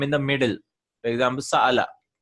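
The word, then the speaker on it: سأل: For example, Sa'ala, right? Sa'ala. See, this is Hamzatul Qata. How am I pronouncing it? Sa'ala, right?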